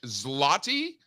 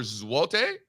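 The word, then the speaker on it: złoty: taibat the Malaysian ringot the Polish zotti or zalte uh is how I'm told that you pronounce it uh what else uh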